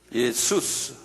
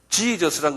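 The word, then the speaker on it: Ἰησοῦς: 영어로 예수스. 지저스란 건 영어 이름인데 이게 원어하고 달라요. 스펠링은 같지만 지저스란 말은 영국 사람들이 만들어낸. 그건 비성서적이에요. 본래는 예수스 그러네요. 발음해 보세요. 예수스. 이게 이제 그리스 말이거든요.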